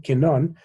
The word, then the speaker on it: κοινών: δε, on μηδέν ενδέχεται κοινών, I'm sorry, it's stressed on the last syllable, κοινών μέτρων γένεσθε.